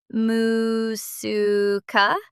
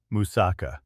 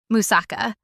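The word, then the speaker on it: moussaka: H I'll try this musuka. That doesn't sound quite right. Musaka. Musaka.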